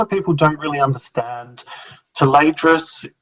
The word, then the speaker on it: Tayledras: Tadras is how to say it. Um, you know, uh, tress. Um, you can spell it however phonetically you'd like. And I'm sure that Mercedes lackey fans would probably be be outraged at our pronunciation, but we go with the fact that we're Aussies and we say things really weirdly, so that's just our interpretation of it.